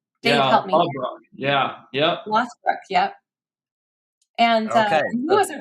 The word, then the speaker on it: Lothbrok: Lothbrok.